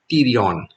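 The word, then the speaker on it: pterion: this area is called tyrion p te r io n P is silent so we call it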